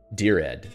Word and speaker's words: Dired: dear red well it's it's the directory editor so dear dur you can say durad I guess or directory directory dear Ed so that's that's the way that I understand to pronounce it hopefully that helps and